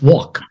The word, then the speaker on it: walk: But you take words like walk, it has a L in there, but you Right. almost never hear anybody say walk. It's walk, Right. as if the L disappeared.